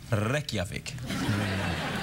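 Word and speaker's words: Reykjavík: no no wait its capital city is reik pronounced reik Johnny Kiki um so here's the question yeah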